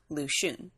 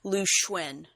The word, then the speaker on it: Lu Xun: So for example, 3 to 6, they pronounce Lushun. So Lu space Xun. All this time they were pronouncing that as Lushun. And then in Dynasty Warriors 7, where they're trying to repronounce these names, all of a sudden they're pronouncing it as Lu Xuen.